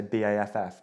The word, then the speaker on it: Bath: You say BAFF, Bath. I'm Bath. That's how it's spelt, isn't it? Some people are Bath. Do you know what? It depends who I talk to.